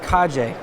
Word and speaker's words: Kaje: It's called the Kuma Kaje. Kuma? It's not actually pronounced cage. It's pronounced Kaje. Kaje.